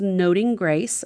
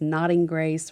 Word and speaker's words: Noting Grace: Well, my blog is Noting Grace. A lot of people mispronounce that as Nodding Grace or Nothing Grace.